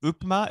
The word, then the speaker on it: upma: But the upma, is that how you say it?